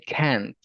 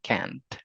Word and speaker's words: can't: Si se dan cuenta, no hay mucha diferencia al momento de pronunciarlo, pero al final, y por eso tenemos que como enseñar, ir enseñando el oído, al final tenemos la pronunciación de la T que nos dice can't, ¿sí?